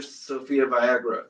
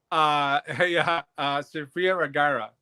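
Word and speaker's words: Sofía Vergara: Unless you're Sophia Viagra, or how do you say her name? Yeah, you got to take some. Sophia Vergara.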